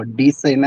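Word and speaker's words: Vivian Dsena: सेना बोल सकते हो डी सेना है लेकिन सेना बोल सकते हो डी साइलेंट होगा आई थिंक ओके विव्यां डिसेना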